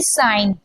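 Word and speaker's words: sign: एन से पहले जी साइलेंट रहता है। जैसे कि साइंस, जैसे कि साइन, मैंने मुंह से साइंस निकल गया था, सॉरी।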